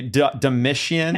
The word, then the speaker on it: Domitian: Can you pronounce this for me? Domitian? That sounds Domitian, right.